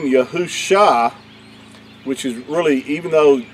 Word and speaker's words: Yahusha: YAHU Sha is spelled Yad, He, Ua, Shin, Ayin, and that would give you the pronunciation of YAHU Sha, not Yeshua.